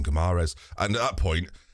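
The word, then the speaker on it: Guimarães: Apparently, Guimaraes apparently is how you say it, but I've sort of nailed on Guimaraes.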